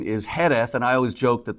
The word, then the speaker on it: Jerez: Sherry the actual appalation is uh Sherry Heth sherish so you got the British pronunciation you've got the Spanish pronunciation and you've